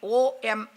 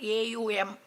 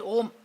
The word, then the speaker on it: Om: will find they write AUM. Okay. But whether they write AUM or whatever it is, it should not, when pronouncing it, you pronounce it only as Om. Nobody should pronounce it as Aum.